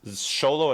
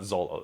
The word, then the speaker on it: Xolo: how to pronounce things I do know that it's sololo and not Zolo though I'm trying to sorry